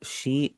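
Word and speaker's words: 七: यहाँ पर एक चीज आप नोटिस करेंगे, इसका जो बीच वाला ई है उसे मैं साइलेंट पढ़ रहा हूँ। तो आपने भी क्या करना है, आपने इसकी आवाज आपने नहीं निकालनी है, आपने इसे शीची नहीं पढ़ना, आप इसे पढ़ेंगे शी।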